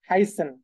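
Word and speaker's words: heißen: যেমন একটু যদি এখানে খেয়াল করেন শুরুর দিকে, এই যে দেখেন একটা ভার্ব এখানে দেওয়া আছে হাইসেন। হ্যাঁ, হাইসেন। আমি আপনাদেরকে এই যে এস এর উচ্চারণ কি বলেছি, ডাবল এস এর মতো।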